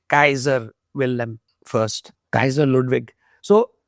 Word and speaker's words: Kaaiser: So K say Kaiser, and I didn't want to say Kesar. So and in German they say Kaiser Wilhelm first, Kaiser Ludwig.